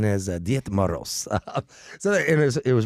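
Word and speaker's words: Дед Мороз: Uh, me pronunciation is Diet Maros.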